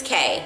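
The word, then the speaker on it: Caé: her full name so you spell it CAE with the accent mark over the e but it's just K question 3 where were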